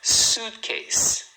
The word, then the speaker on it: suitcase: Suitcase. Então, ó, a palavra desse tamanho só tem duas sílabas. Suit case. A primeira é a mais forte.